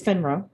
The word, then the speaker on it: FINRA: financial industry regulatory authority i think i said it right but it's finra and um the way that